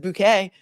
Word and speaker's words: Bucket: thank you appreciate you Mrs bucket which I I have found is now is pronounced Mrs bouquet Mrs bouquet is here